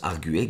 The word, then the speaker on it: arguer: Donc ça se prononce arguer.